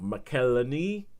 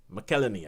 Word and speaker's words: McElhenney: I can never pronounce his last name. It's an Irish last name. He's American, but it's Rob McElhenney. McElhenney, I think.